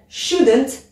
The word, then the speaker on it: shouldn't: utiliser le sujet shouldn't on prononce toujours pas le l shouldn't et shouldn't c'est la